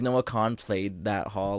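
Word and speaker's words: Kahan: I that's how you say his name like no con played that haul like 4 days after us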